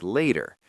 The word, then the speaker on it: later: So cu becomes cya and later in American English the t often becomes that soft d sound like later.